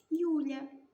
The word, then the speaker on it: ю: два звуки й у буква ю на початку слова і складу позначає два звуки Що ж вона нам